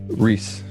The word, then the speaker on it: Ruehs: how do you say your last name Nathan Rhys Rhys I never would have gotten there yeah